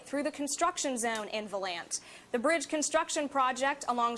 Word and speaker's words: Volant: As far as I know, Volant is the correct pronunciation for it.